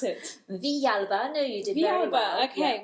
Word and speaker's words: Villalba: Riviera fireflies I've got with me today fa vialba no I knew i' pronounced that wrong how' you pronounce it vialba I know you did okay which comes from